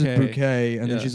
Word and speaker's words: Bucket: Her last name is Bucket, but she pronounces she pronounces bouquet and then she's like ashamed of her white trash family.